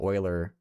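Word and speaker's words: Euler: People are pretty good about saying oiler correctly.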